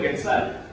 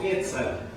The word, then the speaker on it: quetzal: Si yo lo leo en español, digo el Quetzal. Pero si yo lo leo en náhuatl, digo Quetzal. Esto quiere decir que en náhuatl toda la pronunciación es grave.